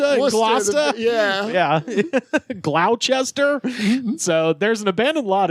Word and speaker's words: Gloucester: and a lot of them have words that are not pronounced how they're spelled. Sure. Just straight up. Oh, you mean Worcester and Gloucester? Yeah. Gloucester.